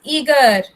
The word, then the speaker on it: eager: Next is eager. E-A-G-E-R. Eager. A silent over here.